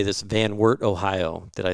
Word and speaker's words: Van Wert: the story of I'm going to say this, Van Wert, Ohio.